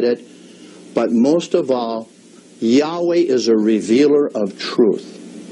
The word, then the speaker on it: Yahweh: you know you did wrong and you say yahweh so i said you're working you're working on